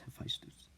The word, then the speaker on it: Hephaestus: And if you say I'm pronouncing it wrong, everyone you've seen, most of them, they've just been pronouncing this guy's name wrong. It's Hephaestus.